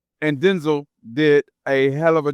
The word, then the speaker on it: Denzel: The man said his name is pronounced Denzel, not Denzel. He said his mama called him Denzel. And if you look at, I'm sure not everybody, but a lot of people been to school, break them syllables down. D-E-N is Den. Zul is Z-E-L, Denzel. But you better gonna put that Hollywood flavor on there, it's Denzel.